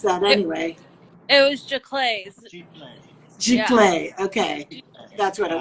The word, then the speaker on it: giclée: to pronounce that anyway. It was giclées.